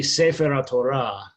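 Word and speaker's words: ספר התורה: No, it would be it's stressed as one, but the accent doesn't move. So it would be Sefer HaTorah. Sefer HaTorah. So the accent would be on the Ra part, and you would just string it together.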